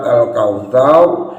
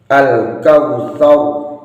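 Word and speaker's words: الكوثر: Kemudian yang kedua, saat membaca al-kautsar, ini pakai sa si su bas, sa si su bas, sa si su bas, sa si su bas, bukan sha shi shu bash, bukan.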